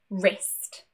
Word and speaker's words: wrist: So, when we have a WR at the beginning of a word, it is most likely a silent W, and it's pronounced as R instead, that R. For example, right, wrong, and wrist.